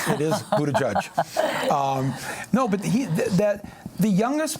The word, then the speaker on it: Buttigieg: I'm not trying to pronounce the name. It is Buttigieg.